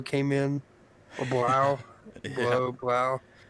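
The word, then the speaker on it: Blough: Blau. I think they pronounce it Blau, but it looks like it would be Blow.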